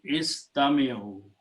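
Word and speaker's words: استمعوا: When you want to make it plural, you add a waw at the end and alif firqaya, which is not recited. So this become istami'u.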